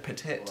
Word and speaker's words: Pettit: женщина позеленее Это Кейтлин Петтит Мне кажется, что ударение на "и", как в слове "petit" Тут написано по-другому Тут